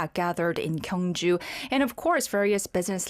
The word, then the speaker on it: Gyeongju: He learned how to pronounce Gyeongju. That's right. It's Gyeongju. Gyeongju.